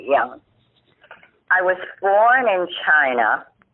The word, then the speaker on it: Yang: we pronounce it young y-a-n-g although uh your your mom and aunt say yang because they were born here but we pronounce it the chinese way young i was born in